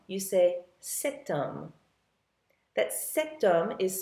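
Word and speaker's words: cet: like um instead of saying you sayum that setum is spelled c e t now remember that's the masculine singular form another example with an H would be hotel which means Hotel this hotel or that hotel setel c e t how about a masculine singular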